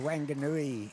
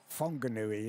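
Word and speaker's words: Whanganui: I went to Wangui in New Zealand. Yep. Funui is pronounced it.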